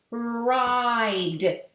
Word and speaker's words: ride: Rid, if I add an E, now the E is going to go over to the I and it's going to say your name, I. And it's going to say ride.